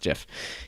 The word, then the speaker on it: GIF: I don't care what the maker said. It's GIF. The maker of the program or the file type made a GIF about it, and the GIF is pronounced GIF. You can look it up.